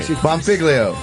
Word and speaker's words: Bonfiglio: Bonfiglio.